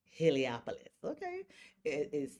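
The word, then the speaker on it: Heliopolis: Helopoulos. Okay, it it sounds hard, but if you spell it out, it's it's easy.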